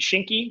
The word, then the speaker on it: Shinki: then you have what is it am i pronouncing it shinky is that right yeah that's correct yeah what